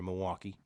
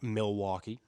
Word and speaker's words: Milwaukee: I've understood at this point it is Milwaukee and not Milwaukee for the locals. Wait, say that again. You don't pronounce the L. Nobody here says the L.